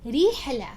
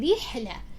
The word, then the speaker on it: رحلة: But for now, you'll have to say rihla. Stretch your lips to the maximum extent possible for you, as if you're smiling. Say rihla, rihla, for it to come out correctly.